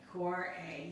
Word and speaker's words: Kvarøy: master at this because the v which normally you would try to think about how to get that sound out in norwegian is a w right so how do